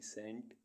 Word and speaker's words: scent: ऐसे वर्ड्स जिनमें अल्फ़ाबेट सी साइलेंट रहता है। SCENT सेंट, सेंट मीन्स गंध।